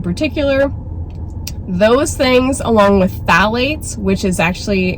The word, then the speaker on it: phthalate: Those things, along with phthalates, which is actually, it's spelled, I think it's PHTH or something like that. PTH, is it PTH? Yeah. phthalate is how you pronounce it.